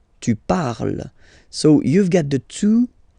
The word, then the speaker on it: parle: So even if you've got this ENT, well, don't hate me, but you won't pronounce these letters. Okay, you have to write them for the plural form, but you don't pronounce them. So you get il parle, elle parle.